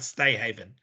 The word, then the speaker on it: STA Haven: I've been saying it wrong all night, right? Stay Haven.